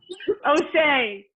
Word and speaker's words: O'Shea: Thanks, Osha. How do you say your name, Miss Jones? O'Shea? O'Shea. Yes. You were crushing it.